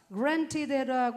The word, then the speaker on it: granted: Granted라고 하지만 보통 미국에서는 granted 그렇게 얘기해요. T 발음 안 하니까.